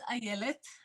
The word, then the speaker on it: Ayelet: Yes, let's talk with, are we pronouncing it correctly, first of all? So my name is Ayelet.